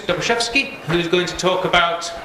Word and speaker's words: Doboszewski: Can you pronounce it once for us? Doboszewski.